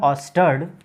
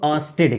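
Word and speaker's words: Ørsted: उनका नाम है ऑस्टर्ड। उनका नाम है ऑस्टर्ड, और अगर हिंदी में इनको बोले तो हम लोग ऑस्टेड कहते हैं। ऑस्टेड, spelling wise, pronunciation wise ऑस्टर्ड, and Hindi में इनको कहते हैं ऑस्टेड।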